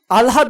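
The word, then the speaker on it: আহ্লাদ: হবে উচ্চারণ লেখার ক্ষেত্রে আলহাদ বানানে হ এর সাথে ল হওয়ায় উচ্চারণে এল এইচ লিখেছি প্রলহাদ বানানে হ এর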